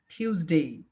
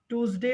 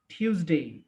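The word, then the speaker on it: Tuesday: টটাকে একটু ঠ উচ্চারণ করবো আর কি, টিউজডে, টিউজডে। ঠিক আছে, টুজডে আর টিউজডে না, কিন্তু এটা জাস্ট একটু স্ট্রেস দিয়ে টিউজডে।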